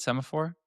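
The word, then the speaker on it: Semafor: Is that how you pronounce it? Semaphore? Yes.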